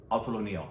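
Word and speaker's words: অতুলনীয়: The word is autolonia. And what does that mean in Bengali? Or autolonio. I think that's more perfect in the pronunciation.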